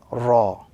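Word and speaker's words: راء: And as we focus a little bit on the pronunciation, this particular letter, the letter Ra, is pronounced when the tip of the tongue slightly touches the upper gums, the letter Ra.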